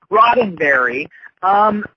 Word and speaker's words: Roddenberry: Parts of the series are canon, and it's really confusing because Gene, how do you pronounce his name? Roddenberry? Roddenberry.